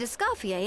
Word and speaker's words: Escoffier: Find escafier. Treasure the ball. Okay, that's how you pronounce it.